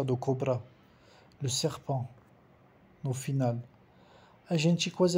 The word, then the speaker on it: serpent: Et le serpent também, o T não se pronuncia, do cobra. Le serpent, no final.